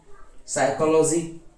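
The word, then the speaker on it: psychology: फिर P silent देखो, कव, cupboard, cupboard, SIDO, pneumonia, psychiatrist, cyclist, साइकोलॉजी, साइकोथेरेपी, ठीक है, साइकोटिक, रेस्पबेरी और रिसेव।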